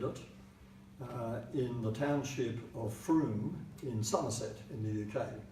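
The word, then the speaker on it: Frome: through misspelled el faro we're made but it's pronounced prune in 2013 a GP in the township of Froome came to the conclusion that many of her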